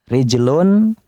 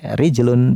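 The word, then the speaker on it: رِجْلٌ: oleh orang Arab dengan muannas yadun tangan ya rijlun kaki.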